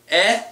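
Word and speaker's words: へ: And the three big particles, ni, e, even though it's a he, it's pronounced e, and de.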